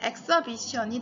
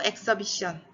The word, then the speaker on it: exhibition: exhibition이 되는 거예요. exhibit하고 exhibition 전혀 다르죠? 그리고 강세가 어디에 오는지 빨간색으로 칠했거든요. exhibit으로 되고 tion이나 ity로 끝나는 명사형 단어에서는 바로 앞에 있는 모음에 강세를 줘요.